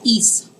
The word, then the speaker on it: hic: i c hic and remember h in spanish is silent so we're really going to pronounce that as is means to come in